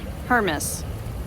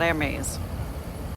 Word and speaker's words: Hermes: So it's pronounced Hermes. Hermes thrift shop. It's not Hermes.